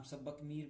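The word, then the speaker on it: सब्बकामी: कई जगह इनका नाम सब्बक मीर भी मिल जाता है। ओके, वैसे जो पाली भाषा के हिसाब से है, जो प्रोनाउंसिएशन होगा इसका सही वो सब्बा कामी होगा।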